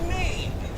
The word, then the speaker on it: Maine: Yes, and let's talk about Maine. M-A-I-N-E? Huh, really? The E is silent.